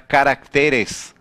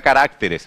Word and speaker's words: caracteres: Quando você fala carácter no singular, no plural tem que ficar caracteres. A maior intensidade de voz no plural não fica, né, na sílaba que está originalmente, carácter. Não fica caracteres, fica caracteres.